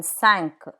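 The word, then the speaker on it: cinq: but there are exceptions some final consonants are pronounced let's take a look at those Q like in sank five sank C like in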